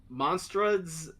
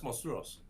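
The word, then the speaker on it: Monstruos: out in Hollywood is uh how do you pronounce this monads the monsters of Latin America mon yes monstros monstros Spanish okay that's how you that's how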